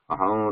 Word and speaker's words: अहम्: There is no pause between this saying Ramesha, Ra of Ramesha and Anuswara. It has to be continuous. Aham Ramesha. But for our purpose, we'll just pronounce here as Aham, just for the ease of pronunciation right now.